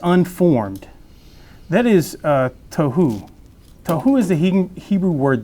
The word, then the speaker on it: tohu: So unformed and void, and that is tohu. That's how you pronounce it, tohu.